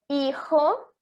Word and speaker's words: Hijo: Então, por exemplo, temos aqui 3 palavras que iniciam com a letra H e eles não possuem som. Então, a gente vai pronunciar a letra que está depois, que no caso são as vogais, certo?